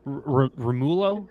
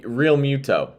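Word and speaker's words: Realmuto: they're as not if going to be JT Romulo. Is that how you say his name? The Phillies catcher? God, I don't Real Muto.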